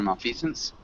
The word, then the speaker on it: malfeasance: Malfeasance, you got correct the first time you said it. Just remember malfeasance.